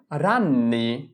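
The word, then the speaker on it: ragni: অনেকগুলো মাকরসাকে বলা হয় রান্নি রাননি রান এর রাজি এন ইনি রাননি রান্নি জি এন কে নয় নয় এর স্বীকার মানে দুইটা ন উচ্চারণ করতে হবে রান্নি তাহলে আমরা যদি শব্দের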